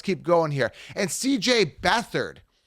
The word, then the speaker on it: Beathard: going here and CJ beathard they're calling him bethard but his last name is beat hard b-e-a-t-h-a-r-d okay let me